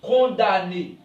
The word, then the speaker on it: condamné: pas condamné on dit condamné ok on ne dit pas condamnation on dit condamnation m dans le mot condamné ou condamnation aime ne se prononce pas ok la moelle ce